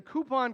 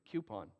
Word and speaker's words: coupon: Sandy is the coupon queen. I said it right just for you. I usually say coupon, which is a Q.